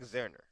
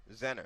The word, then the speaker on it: Zenner: and I was go for itou Z Zach zerner what last name Z zenner there we go somebody ho ho somebody gave